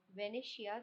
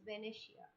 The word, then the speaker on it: Venetia: The options are Sardina Fedmont, Venicia. The correct pronunciation is Venetia, Sicily, purple state.